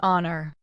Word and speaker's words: honor: We use an before some words beginning with h when the h is silent. Examples. An honor. An hour. An honest man. An heir. The h is not pronounced in these words.